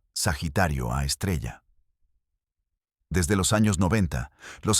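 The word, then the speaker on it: Sagitario A*: En el centro de la Vía Láctea hay una fuente de radio llamada Sagitario A asterisco, pronunciado Sagitario A estrella.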